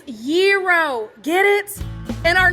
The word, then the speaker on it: gyro: GZ, once and for all, how do you pronounce this word? Gyro. It's gyro.